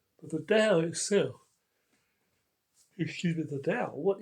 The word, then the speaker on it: Dao: The Dao sometimes pronounced Tao T a but it's actually D AO in written alphabetical you know letters. It's pinion basically. Okay. The fourth tone in Mandarin Chinese.